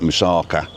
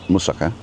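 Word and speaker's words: moussaka: Not musaka, it's musaka. And um, and have a look at that because he does an oven version.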